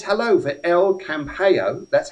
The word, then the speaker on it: El Campello: And Sally says hello for El Campello. That's how you pronounce it, folks.